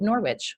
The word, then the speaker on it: Norwich: She is based in Norwich, where she holds Norwich, correct? Is that how you pronounce it?